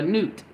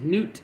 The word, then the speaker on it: Nut: Celestial Sky mother a newt is Newt is spelled nut n-u-t but it's pronounced Newt thank you spirit I